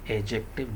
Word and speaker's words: adjective: उसी तरह पढ़ेंगे डी को साइलेंट करके। एजेक्टिव जीम साउंड है, डी के बाद जब भी जीम साउंड आएगा, जैसे जज में, नॉलेज में ज साउंड डी के बाद आ रहा है तो डी ख़त्म हो सकता है आसानी